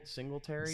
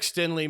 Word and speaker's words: Stingley: Singletary. Singletary. Yeah. Singletary. Yeah. No, it's Stingley. It's Derek Stingley.